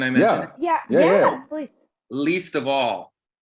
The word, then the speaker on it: Leestavall: Least of all. And it's spelled LEESTAVALL.